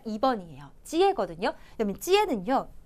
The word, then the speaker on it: 接: 찌에거든요. 그러면 찌에는요. 요 한자 요렇게 발음해요.